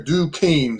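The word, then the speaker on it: Duquesne: I always put in there Dukane because you wouldn't get that if you weren't from Pittsburgh. Um but that's how you pronounce it.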